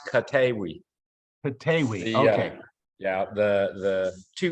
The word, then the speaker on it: Koteewi: video froze there for a second it's it's pronounced katewi okay yeah the the two e's making a